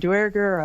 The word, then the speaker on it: Duergar: Like I've heard Duergar, I've heard Dwergar, I've heard Duergar.